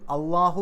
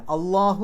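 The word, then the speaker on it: الله: ഉച്ചാരണം പോലും മറ്റു വാക്കുകൾക്കില്ല അള്ളാഹു എന്ന് പറയുന്ന ആ ഒരു ലാമിന് കട്ടികൂട്ടി പറയുന്ന തരത്തിലുള്ള ഉച്ചാരണം പോലും മറ്റൊരു സ്ഥലത്തും വരുന്നില്ല ഇനി മിനശൈത്താനി അശൈത്താൻ എന്താണ്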